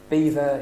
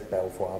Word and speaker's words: Belvoir: North the veil of beaver is over there um spelt Belvoir I don't know if anyone says Belvoir but it's pronounced Beaver um and from the